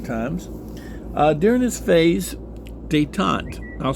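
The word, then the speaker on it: détente: getting into modern times uh during this phase dayon I'll spell it dayon d t n t dayon policies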